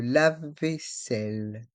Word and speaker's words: vaisselle: lave-vaisselle le lave vaisselle dans le mot vaisselle les voyelles a et i font le son E et les deux AES restent en suspens le laveevaisselle le lave-vaisselle le lave-vaisselle le micro-onde